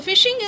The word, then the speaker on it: phishing: So phishing is pronounced like phishing, and working functioning is also similar.